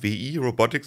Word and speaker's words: WIRobotics: Gab auch noch das Exoskelett von Wii Robotics, also Wii Robotics, aber ausgesprochen wie Wii.